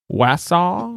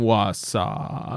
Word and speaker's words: Wausau: You can help me with this pronunciation, Flex. Wausau, Wisconsin?